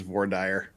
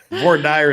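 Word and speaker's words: voir dire: are you with me the only true pronunciation is V dire no come on sorry no she's she's she's been polluted by that that Pacific time zone nonsense all right it's Utah against the rest of the world no it's it's all right thinking people V dire is the only way that's pronounced I'll take that to my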